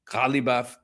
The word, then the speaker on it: Ghalibaf: It's somewhere in between the pronunciation. Ghalibaf.